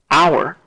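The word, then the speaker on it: hour: I approached the house notice how the H here is used differently from the h here our doesn't have a strong aspirated H sound house however does so this H here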